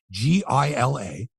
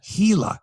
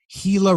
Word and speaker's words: Gila: Gila River it's PR it's spelled g-i-l-a but as anyone knows it's pronounced Gila like Gila monster Gila River Arena right but